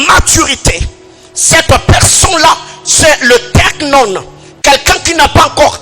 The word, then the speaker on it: teknon: Deuxième chose, à part teknion, nous avons teknon. Teknon qui s'écrit comme T-E-K-N-O-N.